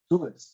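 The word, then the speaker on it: צרות: Prononciation, Sarah, tsures.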